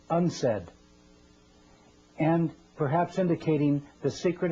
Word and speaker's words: UNCED: de janeiro the acronym unced stands for the united nations committee for environment and development it is pronounced unsaid and perhaps indicating the